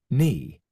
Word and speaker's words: knee: So, the line one we have is silent in the in the word no. Knife. Knee. Right. However, in the last word, we have the word thank. It is not silent.